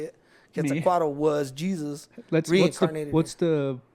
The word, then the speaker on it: Quetzalcoatl: But anyway, let's get back to talking about the Quetzalcoatl story.